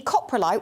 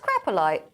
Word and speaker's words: coprolite: that um in the coprolite which is the fossilized poo they pronounce crap like is it pronounced crapolite no no it's not it could easily be